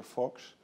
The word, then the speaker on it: Vos: is ren's mouse and my name is fox so mouse and fox are still around and